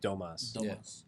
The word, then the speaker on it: Domas: uh domas I believe I think it's supposed to be like Thomas in the in the English though they pronounce it domas it sounds like the